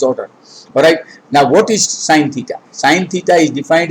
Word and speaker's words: sine: It's not sin theta. It is sine theta.